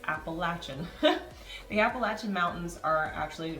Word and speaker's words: Appalachian: the way New Yorkers this is how it's pronounced it's Appalachian not Appalachian that's right I grew up saying that it's Appalachian the Appalachian Mountains are actually running all the